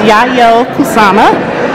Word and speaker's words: Yayoi Kusama: So I found out how to pronounce the name. It's Yayoi Kusama, Infinity Mirrors exhibit.